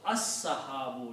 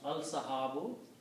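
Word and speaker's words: السحاب: And when you put al, these two dhammas will change into one. And you pronounce as-sahabu. You don't pronounce al-sahabu.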